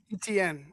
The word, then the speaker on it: Etienne: Etienne.